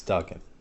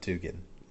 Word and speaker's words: Duggan: Max Duggan. Not Dugan.